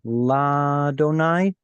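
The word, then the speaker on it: לַאדֹנָי: olive the point being when you see llad in front of God's name it's actually lot donai instead of Adonai and it all has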